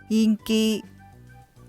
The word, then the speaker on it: 인기: の感じはイン 7 day 人気はインキーとなりますでは皆さん 3